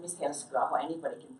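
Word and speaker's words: Helskyaho: And very briefly about me, so my name is Heli and the last name is Helskuaho. Anybody can pronounce that. Yeah, Helskuaho, that's correct.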